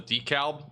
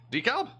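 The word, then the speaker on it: DeKalb: milkshake that's what that is I nailed the Decalb oh did I is this right Decalb actually thought I was wrong about that one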